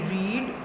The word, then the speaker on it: read: READ, रीड, रेड, रेड। इसकी first form रीड है, second form रेड, third form भी रेड, लेकिन spelling same है।